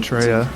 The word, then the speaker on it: Treya: Also, you spelled it wrong. You made me say it wrong. It has an E, apparently. As in Treya.